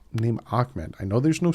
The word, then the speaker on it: Ahmed: And yes, you pronounce his name Ahmed. I know there's no C in there. But go look up how to pronounce his name. It's actually pronounced Ahmed.